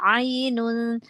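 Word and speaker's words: عين: Terus di ayat 12, hati-hati huruf ain jangan seperti hamzah. Fiha ainun, ainun, ain ya, huruf ain, bukan huruf hamzah ya.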